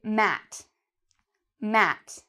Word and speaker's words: mat: So for example, this, I would say mat, mat, just like the word at, mat.